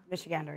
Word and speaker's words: Michigander: Kat, as a native Michigander, is that how you say it? Michigander? Michigander, yeah.